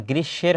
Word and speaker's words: গ্রীষ্ম: উচ্চারণটা হবে গ্রীষ্ম না গ্রীসের হবে ম ফলার উচ্চারণটা এখানে হবে না গ্রীসের তীব্র রৌদ্রদাদহে মানে